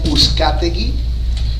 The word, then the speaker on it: Uzcategui: My name is Uzcategui, and if you have a problem pronouncing my last name, it sounds like, who's got the key?